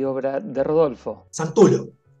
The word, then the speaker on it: Santullo: La pronunciación es italiana, es Santullo. Lo que pasa es que en esta parte del mundo, de hecho en México era Santulio, y acá ha sido Santullo, Santullo, pero no, se pronuncia Santullo, porque viene de alguna parte de Italia, no tengo muy claro